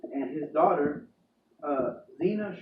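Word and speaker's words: Zeena: and his daughter uh Zena Shrek like Zena Warrior Princess yeah and then the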